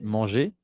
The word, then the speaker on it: mangé: Es decir, que para los verbos del primer grupo, la pronunciación entre su infinitivo y su participio pasado no cambia para nada. J'ai mangé, eso he comido, ¿ok?